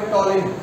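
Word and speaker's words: Ptolemy: এবারে গ্রিকদের মধ্যে কি কি নাম দেখতেই পাবে, ইন্ডিকা, মেগাস্থেনিস, জিওগ্রাফি টলেমি, উচ্চারণটা হবে টলেমি, কেমন?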